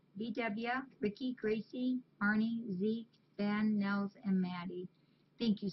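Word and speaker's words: Bynne: I remembered how to say it because it's spelled B-Y-N-N-E, Nels, and Maddie. BW, Ricky, Gracie, Arnie, Zeke, Ben, Nels, and Maddie.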